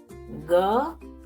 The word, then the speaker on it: ग: aspiration no ha sound to pronounce correctly pronounce it as you pronounce ga in english word girl ga girl notice there is no aspiration or her sound for writing ga please